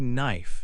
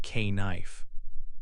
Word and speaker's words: knife: When a word starts with KN, the K is silent. You only pronounce the N sound.